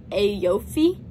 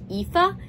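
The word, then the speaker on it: Aoife: o i f e which I would have pronounced like aopi which I knew was wrong when I first read it but apparently it's actually pronounced like epha and I never would have known that but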